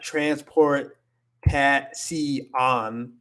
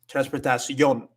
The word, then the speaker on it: transportación: So at the end of it, you have it's pronounced like this, yon. It's not transfer. It's not transport on. It's not like that. It's transportación. Yon. You connect it all together.